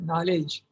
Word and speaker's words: knowledge: For example, knowledge. Okay. Where is the K? There is no, and where is the D? It's not coming, but you pronounce it knowledge.